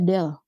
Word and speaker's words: del: Nah, ini bacanya apa? Bacanya del.